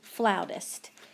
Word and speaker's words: flautist: searched out the new flautist that's how you pronounce that it looks like flutist but the word is someone who plays the flute is a flautist she'd seemed nervous in